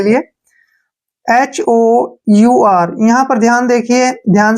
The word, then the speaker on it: hour: ध्यान रखिए, जब किसी वर्ड के शुरू में H आए और H के बाद O आए तो H साइलेंट होता है। जैसे हमारे पास वर्ड है एग्जाम्पल के लिए HOUR, यहाँ पर ध्यान देखिए,